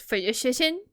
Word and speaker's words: phlogiston: Yet, when they later activated a phlogiston chisel, something only Natlan excuse me, it's pronounced phlogiston.